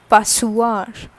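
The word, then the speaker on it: passoire: use whisker okay next is la pasua la passwar so this is what sieve with which we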